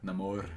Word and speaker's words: Namor: or I guess he's he's very Mexican so he pronounces it with wow namore yeah o yes I